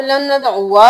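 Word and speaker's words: لن ندعوا: लीजिए लन नदउआ मिन यहाँ पे लन नदउआ नहीं करेंगे, क्योंकि जब भी अलिफ के ऊपर ये गोल दायरा होता है तो ये साइलेंट होता है, हम इसको नहीं पढ़ते, हम आइन पेश वाव ज़बर वा करेंगे।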